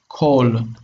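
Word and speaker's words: כֹּל: Okay, if we have a closed syllable and it's unaccented, that is, if it's connected to other, like another syllable after it, and we have here like this is mol.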